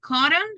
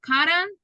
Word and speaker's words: cotton: not mountain mountain H with cotton happen to it's not cotton that would be cotton okay it's like just n Sound at the end you call that the